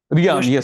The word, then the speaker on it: Rian: Just correct me if I'm pronouncing it right. Rian, right? Rian, yes.